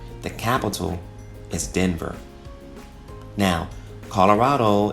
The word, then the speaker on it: Colorado: capital is Denver now Colorado is actually a Spanish word pronounced Colorado which literally means colored and in this case